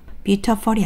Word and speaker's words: beautiful: 강세에 유의하여 아래의 발음교를 읽어 보세요. 첫 번째 몸인 U의 강세가 찍혀 있어요. 그럼이 단어를 어떻게 읽느냐? Beautiful이 아니라 세게 읽으면서 살짝 음도 높아요.